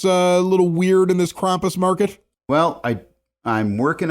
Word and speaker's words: Krampus: anything else that's a little weird in this Krampus Market well I I'm working on getting some characters for this Market maybe Krampus himself is it Krampus or Krampus uh I